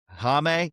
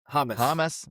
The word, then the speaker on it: James: But their biggest addition in 2026 is Colombian superstar Jame. Is that how you pronounce? Hamus.